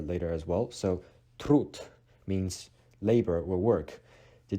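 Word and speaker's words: труд: When D is placed at the end of a word, it is pronounced as T, which we'll be explaining about that letter later as well. So trud means labor or work.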